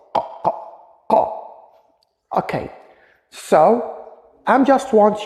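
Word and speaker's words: ق: You have to close your throat here, the beginning of your throat. Qa, qa, qa.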